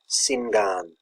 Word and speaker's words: singan: English word sing which in Old English is pronounced as singan s Sing Sing Sing s s mod English